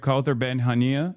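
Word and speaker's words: Kaouther Ben Hania: So that's the voice of Hin Rajab and today we have Kther Benhania.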